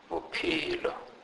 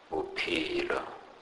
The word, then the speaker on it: bophelo: PH is pronounced as P, P in Sepedi. These letters are pronounced like the P in the word peach. For example, bophelo, bophelo, which means life.